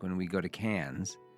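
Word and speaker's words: Cannes: We're going to see all these spots like when we go to cans. How do you say it? Cans or cons? Cans. It's cans.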